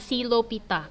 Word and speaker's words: psilophyta: ada divisio psilophyta silofita tapi tulisannya psilophyta bacanya silofita v-nya Nggak dibaca ya kemudian ada divisio lycophyta